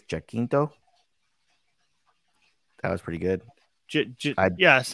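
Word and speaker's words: Jacinto: name i think it's jackkinto that was pretty good yes i think it's i it's j-a-c-i-n though i believe yeah yeah it's a quinto quinto yeah i'm gonna try to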